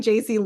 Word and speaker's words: Jaci: you know just say you know I'm I'm JC uh it's pronounced Jac if you got it wrong I thought it was Jackie that's my parents fault not yours uh so